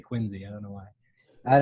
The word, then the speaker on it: Quincy: Even though it's spelled Quincy, I'm supposed to say Quincy.